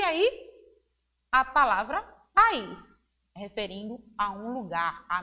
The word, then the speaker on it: país: Observe que o tom da palavra, a pronúncia da palavra, se modificou, diferenciou, certo? Por conta de quê? Por conta da acentuação gráfica, por conta do acento agudo existente na palavra país.